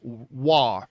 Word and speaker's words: Roy: I know it says Roy, but the Canadian in me, if you're a Montreal Canadiens fan, Patrick Waugh, I'm going to pronounce it Waugh.